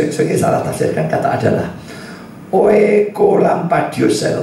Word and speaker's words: Oekolampadius: Oekolampadius, saya bacanya benar.